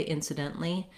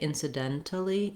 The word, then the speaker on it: incidentally: right to the l so i wrote this uh sound in parentheses because it's optional you might find it easier to say incidentally because it's shorter and you'll probably mostly hear people pronounce this word that way if it's easier for you to say incidentally incidentally then you can go ahead and put that syllable in so in our dent